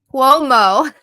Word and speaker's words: Cuomo: He went on Kumo. That's how you say it, right? Kumo? Cuomo? Cuomo.